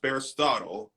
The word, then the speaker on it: Bearistotle: Um, so it is pronounced Bearistotle.